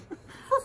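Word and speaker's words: Phoef: remember from it is how to pronounce Fief, because it's spelt P-H-O-E-F, like Phoebe, but with F on the end. So yes, we were going around going, foof, foof. No, it's foof.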